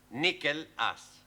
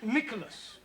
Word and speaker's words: Nicholas: upon a times there was a man called nickel ass it's not quite right no no once upon a time there was a woman called nickel ass it's pronounced Nicholas all right once upon a time there was